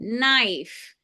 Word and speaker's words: knife: the consonant make the vowel say its name knife okay so how many sounds in knife n